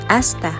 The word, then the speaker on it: hasta: It has the same spelling as the Spanish one, however, again, letter H is always silent, so they pronounce it as hasta.